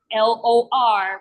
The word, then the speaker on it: lo: So the one I'm going to use is LOR, which is pronounced lo.